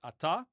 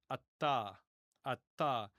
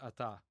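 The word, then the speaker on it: אַתָּה: In biblical times, it would have been ata. But in modern Hebrew, we just say ata ata kind of like apple.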